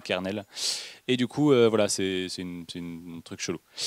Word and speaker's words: kernel: En anglais, pour l'anecdote, ça se prononce comme colonel, parce qu'en fait, les anglais ils sont chelous, et du coup, colonel se prononce comme kernel.